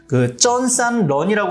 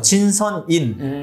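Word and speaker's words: 真善忍: 우리는 우주의 연화 원리에 따라 수련하며 우주의 최고 특성, 쩐산런이라고 하는데 이건 중국 발음이고요. 진선인, 이거 표준에 따라서 우리의 수련을 지도한다.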